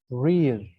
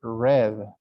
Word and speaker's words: read: in the past tense when you said this verb in the present tense you pronounce it read breathe when you see past tense you say red i read every day